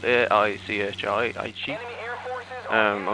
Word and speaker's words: Aichi: It's spelled A-I-C-H-I, Aichi.